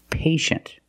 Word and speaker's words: patient: examples patient and initial with patient we see t-i-e making the sh sound patient the first syllable is